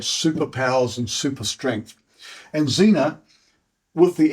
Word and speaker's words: Xena: pronounced Xander it's the way in which it's pronounced a little bit like females named x e n a which is Zena now there was a TV show and film